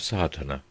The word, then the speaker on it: Sadhana: A word may be added about the pronouncing of Sardana. The accent falls decisively on the first A which has the broad sound of the letter.